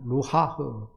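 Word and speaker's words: רוח: 루하흐 발음을 정확히 하면 가래가 나와요. 히브리어가 그래요. 히브리어가 가래 끓는 소리가 나옵니다.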